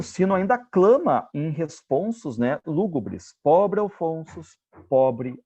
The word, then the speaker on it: responsos: Ele rima responsos com alfonsos, porque ele sabe que nós vamos pronunciar responsos com U no final, não com O.